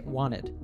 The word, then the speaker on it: wanted: this segment quite quickly in American English we usually drop the T in wanted and just say wanted then the word to